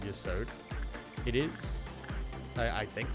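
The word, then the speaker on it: Yesod: problem the way I Yod is actually the way it's supposed to be pronounced. It is not Ysad. I just say Yasad because I am stupid dumb English man. Yod is the intended pronunciation of Yasad.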